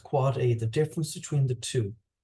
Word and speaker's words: AAAA: record and that a a a a record which is pronounced quad a the difference between the